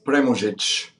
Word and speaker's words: Premuzic: way so chamorro and the second part is premojic contrary to popular belief it doesn't mean before music pre-music but it means pervy mujich the first husband which